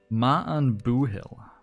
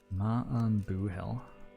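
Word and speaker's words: maith an buachaill: The pronunciation is Ma'an Boohill. Ma'an Boohill.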